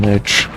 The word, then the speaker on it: lich: The iron lich. By the way, I looked up the pronunciation in the dictionary. He is witch.